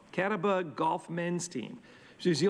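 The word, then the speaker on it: Catawba: golf on the cat I gotta pronounce this right cat off c-a-t-a-w-b-a Kataba Kataba golf men's team she's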